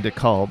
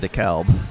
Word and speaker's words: DeKalb: Because I got in trouble for saying DeKalb instead of DeKalb.